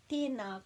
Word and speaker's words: Tēnā: So there's macrons on both of those vowels, so it just pulls those sounds out a bit longer, so it's just not tēnā, it's tēnā. Tēnā koe. Tēnā koe, and it joins